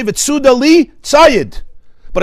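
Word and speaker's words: ציד: Now, it's written, Tzadik Yud Daled Hey, it's pronounced Tzayid.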